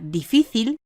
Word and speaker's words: difícil: Como puede verse, la palabra difícil, que tiene las sílabas di, fi, til, presenta una tilde en su segunda sílaba, fi.